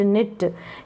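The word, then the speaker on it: knit: इट विट, न इट निट। यहाँ पर भी क्या है? के साइलेंट है। के क्या है? साइलेंट, इसका उच्चारण नहीं हो रहा है।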